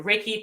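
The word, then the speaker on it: reiki: healing practices is whether I go see a raiki practitioner and raiki is spelled re e i Ki and raiki can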